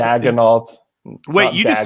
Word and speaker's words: Daigneault: It's Daigneault, right? So Daig. It's definitely Daig.